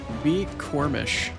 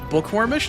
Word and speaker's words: Bookwormish: Bormish. Or at least that's what my TTS is saying. Your name is. I apologize if I mispronounced. Bookwormish, not Bormish.